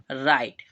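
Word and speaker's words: right: और यहां पर भी हमारा जी एच वो क्या रहेगा जैसे कि पिछले वर्ड में दिखा था साइलेंट तो यहां पर भी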